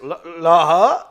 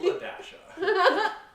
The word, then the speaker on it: LaDasha: How do you say this? La-ha? It's LaDasha.